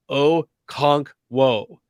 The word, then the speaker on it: Okonkwo: he was like guys it's really easy to pronounce oh conch whoa oh cogwo so tight end